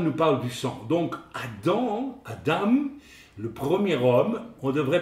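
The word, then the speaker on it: אדם: En hébreu, c'est Adam. En hébreu, ça s'écrit avec un aleph suivi d'un dalet et d'un même final. Vous avez donc le aleph qui est une lettre, n'est-ce pas, silencieuse, et vous avez le dam,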